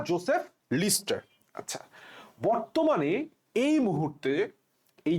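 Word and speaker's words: Lister: doctor Joseph লিস্টার কি নাম Joseph Joseph লিস্টার লিস্টার উচ্চারণটা আসলে সঠিক উচ্চারণ লিস্টারই বাট মেডিকেলে অপশনে বললাম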